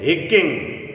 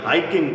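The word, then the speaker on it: hiking: हकिंग यह अक्सर बच्चे बोलते हैं हिककिंग। हिककिंग नहीं है। हकिंग पहाड़ों पे चढ़ना।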